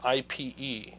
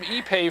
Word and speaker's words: Ipe: Well, there's a wood called Ipe, and it's spelled IPE, and I always thought it was Ipe, Oh, but it's Ipe. Ipe? Yeah, it's like pig Latin.